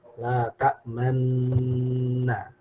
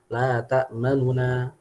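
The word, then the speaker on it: لا تأمنا: Karena cara yang kita baca ada dua cara, tapi yang muqaddam adaan adalah dengan ismam ya. La ta'manna, la ta'manna seperti ini. La ta'manna. Tapi bisa juga dibaca dengan ikhtilas ya. Baca juga dengan ikhtilas, kita bacanya la ta'manuna. Nah, ini karena bukan di atau di tengah-tengah kata ya, bukan di waqaf. Ya, kita baca la ta'manuna tapi cepat ya.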